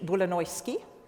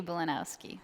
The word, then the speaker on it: Bulanowski: about connecting people and places we have katie bolonoyski i didn't do that well did i it's okay you tell me your name katie bolanowski thank you very mulinowski and i even wrote